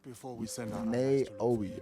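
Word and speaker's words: Naoe: that character is a naoi not before we send neoi I think that's how you said I don't know it's n a o e so I'm just pronouncing it out you know what I'm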